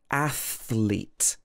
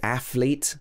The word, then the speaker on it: athlete: So you have to go from the th to the l, thl, athlete. It's difficult to say. Some people would say athlete with a f, or